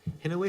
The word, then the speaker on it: Kinawi: Is it Hinaway or Kinaway? How do I pronounce her name? Sorry. Kinawi, yeah. Kinaway, okay, Yeah, thanks.